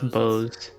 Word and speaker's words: boughs: This is me as Jim not knowing how to pronounce that word. I think it's bows. Yeah. Knows its boughs more silent than before.